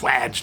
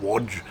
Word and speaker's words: Wadge: It's Wadge, not Wodge.